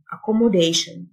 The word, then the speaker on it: accommodation: إقامة accommodation، T-I-O-N تنطق شن، accommodation.